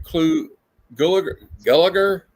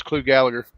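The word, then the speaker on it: Clu Gulager: No, I was just going to say I've heard him referred to as Clu Gallagher, even though that's not how it's spelled.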